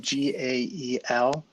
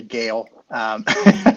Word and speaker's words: Gael: son's name how do you spell it uh it's spelled g-a-e-l um but pronounced gael uh we we got a lot of folks who say gale but what does it mean chris so if